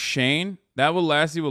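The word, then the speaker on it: Shein: It's pronounced Shane.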